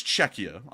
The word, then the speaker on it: Czechia: as they call it now, I believe it's Czechia, is the correct pronunciation.